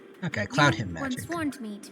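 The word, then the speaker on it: Cloudhymn: With these attackers before, and they used Cloudheim magic to hide their presence. Him magic, not Heim. Without careful observation, no one can detect them. It looks like it should be pronounced Heim. Okay, Cloudheim magic.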